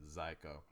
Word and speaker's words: Zyko: He's and I'm not mispronouncing Psycho. He spelled it with a Z or a Z. Yeah. So I'm gonna say it's pronounced Zyko.